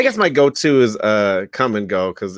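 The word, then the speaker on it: Kum & Go: that was huge called come and go that is so funny and it's spelled k-u-m and go well i don't think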